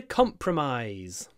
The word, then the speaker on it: compromise: they are willing to compromise compromise the stress is at the beginning comp but make sure you stretch out the eyes at the end compromise it's quite long although it's unstressed compromise and the noun